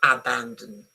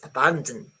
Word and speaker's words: abandon: And very easy for the Italians because abandon but in English abandon is not abandon it's abandon this one is is not even there.